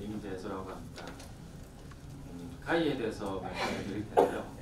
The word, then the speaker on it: khaiii: 카이에 대해서 말씀을 드릴 텐데요. 카이라고 읽으시면 됩니다. 어떤 분들은 KHA3 막 이렇게 읽으시는데 그냥 편하게 카이라고 읽으시면 되고요.